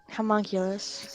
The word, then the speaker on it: homunculus: Homunculus. Homunculus. Thank you. Think of Fullmetal Alchemist. That's what helps me get it right. Think something with the word homo in it.